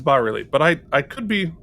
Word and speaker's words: bas-relief: So well, I was this days old when I realized it was called a bas-relief and not a bas-relief. I didn't know the S was silent.